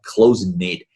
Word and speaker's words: close-knit: 就大家彼此都比较熟悉，然后这样一个熟人社会里面，这就是可能所谓的一个熟人社会，叫 close-knit，关系密切。好。读发音，这个 K 是不发音的啊，往下走。You know, so whether you have young